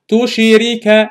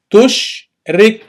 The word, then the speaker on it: تشرك: I don't say tushirika. No, tushrik.